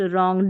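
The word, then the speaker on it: wrong: वरिंग नहीं रिंग, और इसको वरिंकल नहीं रिंकल, इसको भी देखिए रिस्ट रॉन्ग, W नहीं पढ़ना है।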